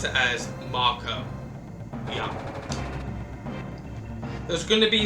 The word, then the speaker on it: Mako: It's And if it was to be pronounced as Mako, there would be an E at the end, making the A as an actual A. So to me personally, calling it Mako makes no sense.